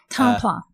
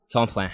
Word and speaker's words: Tamplain: Tamplain. Tamplain. Yeah, it's a French name, sort of local, bunch of different spellings and variations of it, but the French is